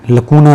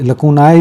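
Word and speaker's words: lacuna: किसी चीज में कोई लकूना रह जाता है लकूना मतलब खामी तो यह लकूना से निकला है तो लेको नहीं इसका ये हम प्रोनाउंस करेंगे खामियां नाउन के तौर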